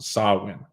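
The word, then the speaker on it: Samhain: its roots in the ancient Celtic Festival of sawin that's how you say a gaic word pronounced sawin a pagan religious celebration to welcome the Harvest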